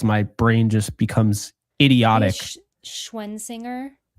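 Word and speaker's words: Schwesinger: Schwensinger? Like So Schwensinger? apparently it's Schwessinger, but I can never say that without slowing it down.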